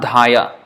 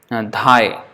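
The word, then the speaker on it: ধায়: So it's not dhaya. It's not dhaya. Dhai. So the last A is not pronounced. And it is not dhoi because it is not the short A. It is long. Dha. Dhaya. So the A is taken out.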